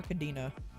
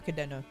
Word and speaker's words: Cadena: Angelic Buster and or Cadena or Cadena is how you're supposed to pronounce it because it is Spanish but either way one